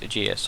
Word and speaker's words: Aegis: Now insignia, if you play the ArmA 3 campaign, the player belongs to Task Force Aegis or Task Force Aegis, depending on how you wish to pronounce it.